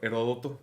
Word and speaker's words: Heródoto: Heródoto con acento en la primera. Es el acento, Heródoto, ok. Me gusta entonces, Heródoto, güey. Suena mal. Ya, yo le digo Heródoto porque aparte así sale en Wikipedia con ese acento en la O.